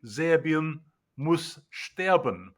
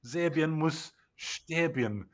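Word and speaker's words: Serbien muss sterben: So, proper German for Serbia must die, which is what that slogan is supposed to mean, would be Zerbian Musban, but they've stuck an extra I inban to make it rhyme with Zerbian.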